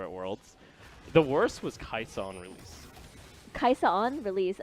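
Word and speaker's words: Kai'Sa: The worst was Kaisa on release. Kaisa on release? Oh. On release, I used to say her name completely wrong. How did you say Kaisa? I said a Kaisa, I think it was Kaisai.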